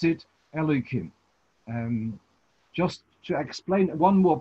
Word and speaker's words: Elokim: So then we pronounce it Elokim.